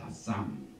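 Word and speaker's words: אשם: 아쌈, 알렙, 신, 맴, 소핏, 아쌈.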